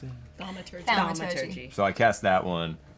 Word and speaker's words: thaumaturgy: Yeah, you can just spell it. I cast the Maturgy. Is I'll it make thaumaturgy?